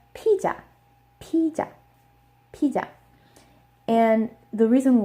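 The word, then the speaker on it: 피자: Korean it is pronounced PJ PJ PJ and the reason why is because the Z sound does not exist in Korean the closest sound they have is on the J sound so whenever there is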